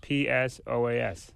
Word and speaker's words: psoas: the pelvis right now psoas how do you spell psoas p-s-o-as p s o a s now why is there a p there I don't know well the p is silent right yeah now when